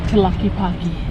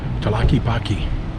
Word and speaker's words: Tlaquepaque: Okay, how do you pronounce that again? Tlaquepaque. Tlaquepaque.